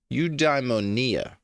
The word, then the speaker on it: eudaimonia: to shared meaning and perhaps even states of eudaimonia. What is eudaimonia? Sorry. Define eudaimonia. Eudaimonia is a Greek term that is most often translated as human flourishing, living well, or the good life.